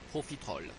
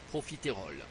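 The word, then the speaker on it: profiterole: osill dites osciler osciler profitrol ne dites pas profit rol dites profitrol profitrol pilanime ne dites pas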